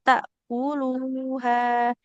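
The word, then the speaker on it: تأكلوها: Wala ta'kuluha. Ta'kuluha. Nah, lamnya dhammah ada wawunya di depan, maka harus panjang ya, seperti itu.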